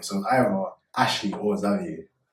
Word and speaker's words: Xavier: So it's it gets pronounced a lot. Xavier, but my name is Zavier and um known as as well.